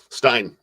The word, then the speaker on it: stein: wants to know if it's a haunted mansion Stein or Steen how do you say that Stein Stein yeah no it's just it's just a